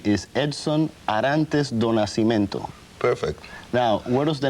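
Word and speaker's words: Edson Arantes do Nascimento: become difficult let me see if i can pronounce this right your name is edson arantes donasimento perfect now where does the name pele come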